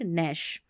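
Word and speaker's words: gnash: अब इसको गणेश पढ़ सकते हैं, गणेश नहीं, G साइलेंट नैश।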